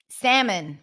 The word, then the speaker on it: salmon: not D D um salmon my favorite word to teach no l salmon salmon Grill salmon salmon